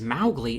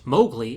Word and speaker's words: Mowgli: disney the main character's name is maugley in the books and pronounced mowgli in disney properties so when i'm talking